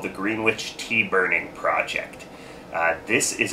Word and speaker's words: Greenwich: they started all saying Greenwich. Matter of fact, as you drive into the town, you see this, they have this picture of a green witch riding a broom, you know, so you